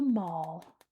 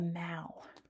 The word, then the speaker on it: Mall: But if normally you go through the regular arch here and you enter the Mal, not the mall, the Mau, that's how it's pronounced.